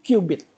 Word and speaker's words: qubit: Qubit gitu kan?